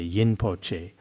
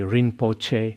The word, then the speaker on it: Rinpoche: Some say yin poche. Some people say rein poche. Some say yin poche. Now many of them especially when they go to America and Taiwan they pronounce rein poche differently.